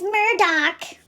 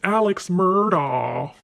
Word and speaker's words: Murdaugh: of his name so I got a little bit of heat from people letting me know that I was saying it wrong it's Murdoch it's Alex Murdoch baby I was just